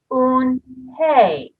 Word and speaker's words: Unhei: turned to joey she nodded slowly yes it's pronounced un hey and it means grace mr kim added on